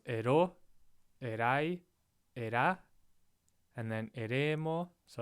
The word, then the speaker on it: erai: If not, it's a good guess it's on the second to last syllable, except for erai, right? That's a diphthong. The ai forms a diphthong, and the emphasis is on that syllable.